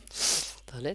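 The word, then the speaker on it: ت: হবে এটার নাম কি তা টা উচ্চারণ হয় কোথা থেকে জিহ্বার আগা উপরে দুই দাঁতের গোড়ার সঙ্গে লাগবে তাহলে এর পূর্ণ উচ্চারণটা আসবে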